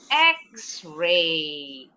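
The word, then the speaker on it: X-ray: Berarti kita harus pakai Xray. Enggak boleh e Xray. Walaupun nih X konsonan kan tapi bunyinya bukan konsonan. Bunyinya huruf vokal huruf E.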